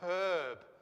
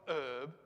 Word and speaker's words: herb: either you know like it's a herb right it's not herb don't even get me